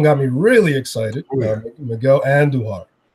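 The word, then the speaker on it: Andújar: Miguel Andujar was taking roll your R's, guys.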